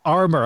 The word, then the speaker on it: Armour: Most people are like, when they pronounce my name often, it's like Rhonda, I'm more like now it's not fancy. It's just armor. Big metal. Think strong. Think armor.